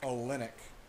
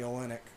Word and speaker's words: Olynyk: Kelly Olynyk. Olynyk. It's because I see it in my head, even though I know how to say it. So once I see the Y, I think only.